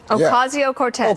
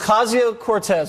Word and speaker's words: Ocasio-Cortez: I can't pronounce her last name. How is it? Ocasio-Cortez. Ocasio-Cortez.